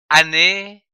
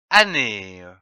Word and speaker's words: année: Une année, A-N, an, N-E accent aigu E, né, que l'on peut prononcer année ou année.